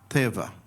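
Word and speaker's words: תבה: And it's pronounced teva.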